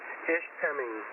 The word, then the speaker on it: Ishpeming: Lake Michigan Tom and your first pronunciation of Ishpeming is correct there's no R in there ish ping so there you go and it is a